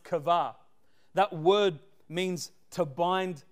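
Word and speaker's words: קוה: couple meanings one of the meanings is is pronounced kava that word means to bind together wait those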